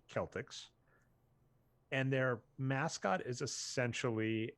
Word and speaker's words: Celtics: would be the celtics so it's spelt celtics even though it should be celtics and their mascot is